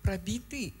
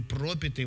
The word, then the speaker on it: пропитый: Потому что вот ударение, в общем-то, на самом деле пропитый. Пропитый. Да. Он так и звучит, последний. А у тебя там, вот послушай, сам себя послушай, у тебя звучит, что пробитый. Последний не пропит. Пропитый не может быть, потому что там ударение на другом слоге.